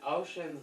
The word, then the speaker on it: Oisin: And it's spelled Oisin, for those of you curious. And Ocean's like, ooh, a tree.